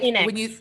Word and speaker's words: Latinx: Latinx? Think of it like Latinx. when you say like Latino or Latina, just replacing an X with that gender modifier.